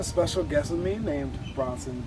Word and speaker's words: Bronson: Like, just as long as it's not Bryson, or anything else of that nature, because I get that far too much when I specifically and say my name phonetically as Bronson or Charles Bronson, and